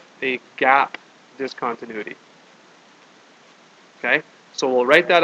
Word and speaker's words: discontinuity: point of discontinuity now it's a funny word discontinuity because you want to say it's dis continuous but the stress is on the different part of the word so it's actually not discontinuity it's discontinuity the stress is kind of in the middle there all right yeah